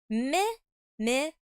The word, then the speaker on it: Mimikyu: Mimikyu. That's how you pronounce it.